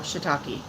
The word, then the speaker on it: shiitake: Shiitake.